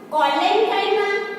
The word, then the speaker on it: collenchyma: See the students, their pronunciations. Parenchyma, collenchyma and sclerenchyma.